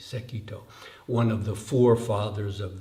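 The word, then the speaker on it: Sekitō: an early Chinese Master his name was sekito pronunciation in Japanese sekito one of the forefathers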